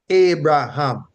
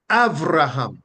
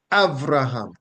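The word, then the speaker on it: אַבְרָהָם: So you don't get Abraham, you get Avraham, right? You get Avraham, and so on.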